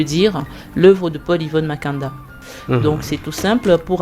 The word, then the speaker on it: Mekanda: Paul avec un E, Yvonne double N et Makanda, comme ça se prononce.